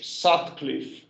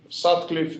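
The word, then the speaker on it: Sutcliffe: in 1968 some references called it the nash satcliffe efficiency because they were two quarters of the same paper sad cliff it's spelled s u d c l i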